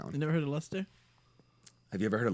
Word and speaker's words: Leicester: No, that says Leicester. Lester. It has the same pronunciation as the last name of former Red Sox pitcher John Lester.